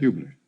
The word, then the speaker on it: Hubler: Or Hubler, how do you pronounce it? Hubler.